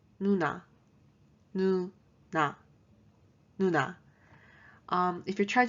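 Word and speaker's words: 누나: the first word is older sister and it's pronounced nuna nu um if you're trying to memorize the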